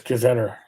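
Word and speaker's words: gazetteer: e r yeah I've also heard it as gazetter no I know but is not for me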